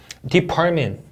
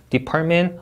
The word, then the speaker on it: department: apartment, 이 T랑 M 사이에 음절이 없습니다. 맞죠? department 하고 T하고 T 해주시면 안 돼요. department, apartment 좋습니다.